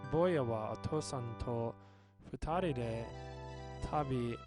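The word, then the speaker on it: 二人: 2 people is futari.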